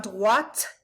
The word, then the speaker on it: droite: La droite, droite. Make sure you're saying the T, because there is an E after it, and if you don't say the T, it becomes a completely different word.